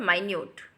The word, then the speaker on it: minute: तो that is called माइन्यूट, ठीक है। तो स्पेलिंग देखिए आप दोनों की सेम है, लेकिन प्रोनाउंसिएशन कम्प्लीटली डिफरेंट है और मीनिंग भी बिल्कुल डिफरेंट है।